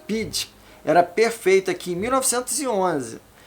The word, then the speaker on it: BD: Chambers passou a chamá-la de Beloved Disciple, discípula amada, abreviando para as iniciais BD, pronunciadas em inglês como Bid.